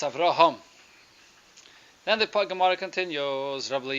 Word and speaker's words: Avraham: pronounced in English its Avram I'll remove it whatever sort of yeah the H gets lost understand it shouldn't that's right so it's Avraham then the pak'ma'ra continues